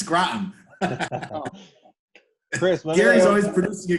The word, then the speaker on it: Groton: It's Groton.